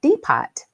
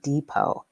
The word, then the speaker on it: depot: I was talking about going to the train depot, but it was actually depot. And every single time I mispronounced it, laughter erupted even louder in the classroom.